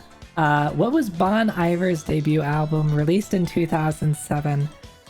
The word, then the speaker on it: Bon Iver: Bon Iver? Bon Iver? Welcome back, Chris. 3 for Emma. All right. Evair. It's like it's French. Bon. Evia. So you don't really pronounce the R then.